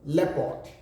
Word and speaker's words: leopard: give us a H pronounce this word l-a-o-p-a-r-d the word is not blue part we rather call it leopard leopard then this way j-e-o-p-a-r-d-y